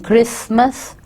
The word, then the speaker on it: Christmas: कुछ वर्ड्स ऐसे होते हैं ना, किसी एक क्रिसमस में टी जो है वो साइलेंट हो जाता है, क्रिस्टमस नहीं होता, क्रिसमस लिखा जाता है, बोला नहीं जाता.